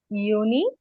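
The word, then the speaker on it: Juni: আবার আমি উচ্চারণ করে দেই, জানুয়ার, ফেব্রুয়ার, মার্চ, এপ্রিল, মাই, ইউনি, ইউলি, August, September, October, November, December.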